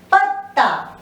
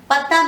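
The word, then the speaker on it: पत्ता: Again, ta, I just touched upon the first ta. The second one is full, so that is pronounced fully. The first ta is half, so it is patta.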